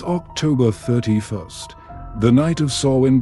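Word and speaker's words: Samhain: years ago it's October 31st the night of sawin pronounced soen for the Kelts this is a night unlike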